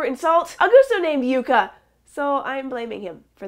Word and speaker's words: Yucca: tortoise did you mention yuka's age and lifespan how did you get that pronunciation Yuka as you instead of yuck best of luck to